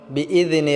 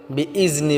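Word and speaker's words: بإذن: এক আলিফ টেনে পড়বো বিজনে রব্বিহিম বিজনে বলতে আমরা জালটাকে পাতলা করতে হবে বিইজনি বললে হবে না বিইজনি রব্বিহিম হিম টা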